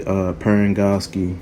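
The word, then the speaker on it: Parangosky: We even see Commander Keyes basically get into it with Halsey, Perengoski. I finally was able to pronounce her name right.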